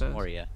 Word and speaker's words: Moria: Moria? It's pronounced Moria.